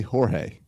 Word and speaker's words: Jorge: Owen sees him on TV he goes it's George why does everyone say Jorge he can cannot translate why it's pronounce Jorge and it's spelled George at home